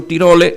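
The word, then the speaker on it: Tirole: de economía yo no tiro le se escribe tiro le tal cual lo pronuncie que habla del bien común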